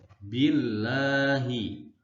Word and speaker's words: Allah: berhak Khair atau domain berharap atau maka cara membacanya menjadi berbunyi log I would lohu Rosulullah i Kwon Yul Wow lohu adzim Allahu Somad IDM Tapi sebaliknya jika lafadz Allah di